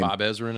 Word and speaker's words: Ezrin: Bob Ezrin, I think. Ezrin, thank you.